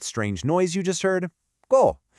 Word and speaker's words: co: And our second block is go, pronounced so.